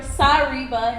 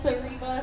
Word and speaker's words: Sariba: somebody like you hi my name is sariba or sariba is how it's supposed to be pronounced but everyone says cereba so it's fine um